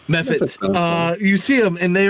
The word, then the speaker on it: mephit: Is it mephit? Mephot? Mephit.